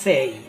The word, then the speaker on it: say: সেই। উচ্চারণটা কী হবে?